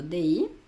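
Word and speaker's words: dis: Acuérdate que la s final no se pronuncia.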